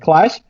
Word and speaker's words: Qlash: it would be easier to just know that Q should be pronounced like like like like I see like clash but but I said like I said I